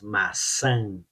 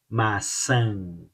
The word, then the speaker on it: maçã: cima da letra A, pronuncia como se fosse A e N e mantém a boca aberta. Olha só. Maçã, maçã, maçã, an, an.